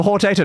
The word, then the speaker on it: Hortator: Oh, you're meant to stress the first and last syllables of Hortator, not the middle one.